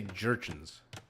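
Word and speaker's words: Jurchens: I'm just going to say Gurchins. I think it's a hard J because like if it was a European civ, I would say maybe it's like a soft J.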